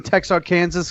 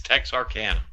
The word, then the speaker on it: Texarkana: talk about both sides does that mean you are saying text Arkansas because it's pluralized no oh no it's Tex our can yeah well let's get